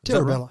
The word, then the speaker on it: Terrabella: Did I say that correctly? Terrabella? Terrabella. Yep. Terrabella? There we go. So I said it right the first time there.